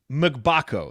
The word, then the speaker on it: Mgbako: How do you pronounce his name again? Mgbako? Mgbako.